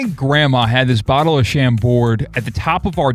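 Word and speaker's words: Chambord: My grandma had this bottle of sham board at the top of our downstairs. The D is silent.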